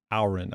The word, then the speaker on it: Auron: Auron, I think is how you say it.